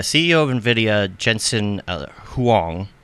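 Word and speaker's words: Huang: of Nvidia Jensen uh Huong not hang but Huong I believe that's how you pronounced it um you know he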